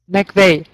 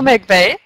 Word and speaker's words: McVeigh: Is that how I pronounce it right? I say it McVeigh. McVeigh. McVeigh.